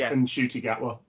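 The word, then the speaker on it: Ncuti Gatwa: and then said no his mom rang him up said oh it's unshy yeah so he's been saying his name wrong as of we but his name is and shoy gatwa and where did this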